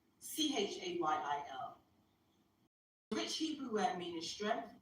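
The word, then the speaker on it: חַיִל: So when he said, Hayil means wealth, I didn't hear it. And let me go to Hayil. It's spelled in the phonetics we have now. Chayil.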